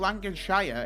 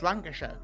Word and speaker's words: Lancashire: Ask Shin about It's not Lancer. Like, it's not Lancashire. It's Lancasher.